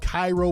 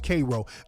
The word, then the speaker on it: Cairo: It's spelled Cairo, but I think it's pronounced Cairo. Very racist, has a long history of racism.